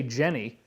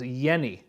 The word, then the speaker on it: Jenny: like you would say jenny the j is actually silent it's more like a y so his name is pronounced dr hans yenni okay sort of like